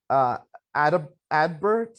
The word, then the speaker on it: Adbert: He thinks that Adbert is how you say his name.